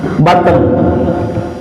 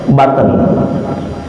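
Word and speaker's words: button: kancing baju buah baju butatton butatton bahasa Inggris tulisannya b u t t o n dibacanya baten itu ada kisahnya Bu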